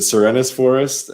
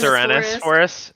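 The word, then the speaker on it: Serenes Forest: Is it Serenus Forest? Is it That's how I pronounce it. Serenus Forest. How do I I pronounce it? Serene Forest. Like serene, like it's serene.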